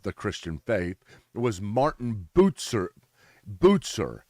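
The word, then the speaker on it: Bucer: Christian faith was Martin Bozer Bozer it's spelled bu U CE ER but pronounced like it has a T Martin botzer Martin botzer was a guy who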